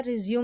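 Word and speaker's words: résumé: हैं नैक सकता है रिज़्यूम में यहां पर इस यू नहीं बोलते हैं रिज्यूमे खोला जाता है डाइवोर्स गर्लफ्रेंड स्टेशन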